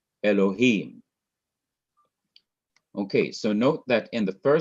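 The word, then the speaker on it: אלהים: verse 1, Bereshith, bara, Elohim, on each of the last syllables of these words, you have different accent marks, indicating that the last syllable of each word is to be stressed or emphasized.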